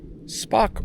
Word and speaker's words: Spock: Spock rhymes with rock. See, I know what you were thinking. I know what you were thinking. You're thinking a different word, but I can read minds. Rock rhymes with spock.